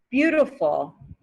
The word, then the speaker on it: beautiful: next word is beautiful beautiful do you hear that the t again turns to a d sound beautiful beautiful the sunset